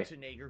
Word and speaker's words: Schwarzenegger: Schwarzenegger, who's the main character of the game. Oh, there you go.